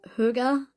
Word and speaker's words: hygge: Um, and it's pronounced Huga.